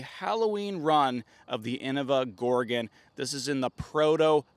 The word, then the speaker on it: Gorgon: Proto color glow Champion Gorgon to also you'll be happy to know I'm going to pronounce it right this time Gorgon not Gorgon not Gorgon orgon so even when I